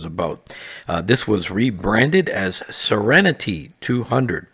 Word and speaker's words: SerenT: This was rebranded as SerenT 200, pronounced like the word serenity, a good choice.